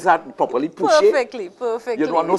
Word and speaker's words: Pouchet: Did I pronounce that properly? Pouchet?